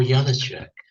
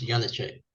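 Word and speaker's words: Janáček: Well, of course, Janacek is spelled with a J, but in America, Nice one, Graham. Nice Yeah, one. yeah, okay. Well, this is Leos Janacek with a J, but really with a Y.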